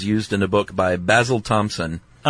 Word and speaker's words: Basil: Uh the following suggestion is used in a book by Basil Thompson. I'm so pleased that you said Basil instead of Basil.